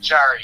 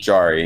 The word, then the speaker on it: Jarry: Can you help me pronounce it? Tristan Jarry. Jarry, yeah.